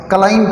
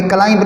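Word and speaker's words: climb: एम और बी जिस world में इकट्ठे आ जाएं उसमें बी साइलेंट होता है. जैसे काम होता है, काम नहीं होता. क्लाइम पढ़ेंगे, क्लाइंब नहीं पढ़ेंगे.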